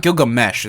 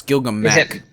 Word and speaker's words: Gilgamesh: no it isn't cool it's not Gilgamesh it's Gilgamesh okay on the switch on the 25th it's spelled Gil gum you know like GI LG am e CH so it's Gilgamesh um yuppie psycho that